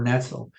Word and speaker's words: Netzel: Netzel. Oh, did I pronounce that right?